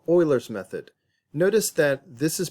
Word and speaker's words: Euler: We can get a better approximation using a process called Euler's method. Notice that this is pronounced Euler's method, not Euler's method.